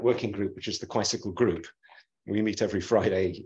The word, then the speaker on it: Quisicle: Quisicle is a 4-dimensional quantum bicycle. So it's spelled just like bicycle, but instead of the B, you put QU for 4, quisicle.